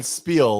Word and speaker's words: Spiel: I spill it okay no he's saying Spiel like talk no no the beans no not spill Spiel like it's it's quite a Spiel you're talking about yeah